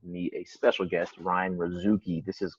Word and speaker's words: Razooky: I have with me a special guest, Ryan Razooky. This is correct pronunciation, correct?